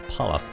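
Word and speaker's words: Pallas: see that is basically palas is Palace Athena Roman goddess I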